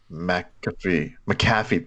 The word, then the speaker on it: McAfee: McAfee, there we go, thank you.